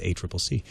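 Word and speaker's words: ACCC: a Triple C and now I know how to say it it's a Triple C Australian competition and consumer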